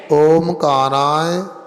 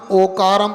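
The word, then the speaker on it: ओंकारं: ओकारम ओकारम बिंदु संयुक्तम बिंदु संयुक्तम नित्यम दायन्ति योगिनः कामदम मोक्षदम चैव चैव ओमकाराय नमो नमः नमो नमः। पढ़ने में आ गया ना। ओमकार नहीं पढ़ना, ओकारम पढ़ना।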